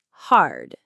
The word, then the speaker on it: hard: First, the word hard. Hard. Notice the R sound is strong at the end.